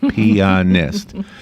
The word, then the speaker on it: pianist: There's a third syllable. Pianist.